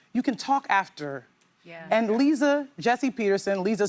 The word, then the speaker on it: Liza: And Lisa Jessie Peterson, Lisa spelled like Liza Minnelli, pronounced like Lisa Gibbons, the former talk show host.